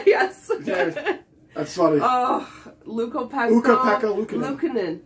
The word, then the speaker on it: Ukko-Pekka Luukkonen: Also, good luck pronouncing the name, Aaron. Yes. Yeah, that's funny. Oh, Ukko-Pekka Luukkonen. Ukko-Pekka Luukkonen.